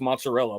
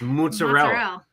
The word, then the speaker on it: mozzarella: I was gonna ask Miss Rebecca pronounce mozzarella, but still, there's no A. It's mozzarella.